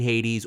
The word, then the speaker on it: Hades: I mean, how do you spell that? H-A-I-T? Hades is Hades.